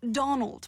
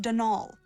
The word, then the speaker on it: Donal: caretaker Donald Delaney not Donald mind you there's no D at the end so it's pronounced denal that's the way you're